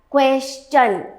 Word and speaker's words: question: This word is never pronounced as question. Question नहीं पूछना है हमें क्या पूछना है? Question. The first syllable, this QUES, is pronounced as KWES.